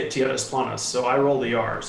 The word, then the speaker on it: Tierras Planas: say it so I said I say it TNS Lummis so I roll the arms that's how I